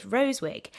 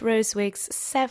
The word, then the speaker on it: Rosewig: His surname is spelt with a capital S, so capital R, small o, then capital S, E-W-I-G. And he did this so that people would pronounce it in the original German manner with 3 syllables.